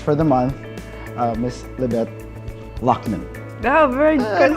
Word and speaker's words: Loughnan: For our Women's Month special, Cube Gallery's featured artist for the month, Miss Libbet, Loughnan. Oh, very good pronunciation.